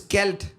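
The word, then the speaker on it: Kjeld: name is kelt right it's celt it's pronounced like Bell to the kid okay but it's actually spelled k j e l d this is not a joke all right I have a silent J in the middle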